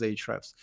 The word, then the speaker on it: Ahrefs: pronounce it at our company is Ahrefs.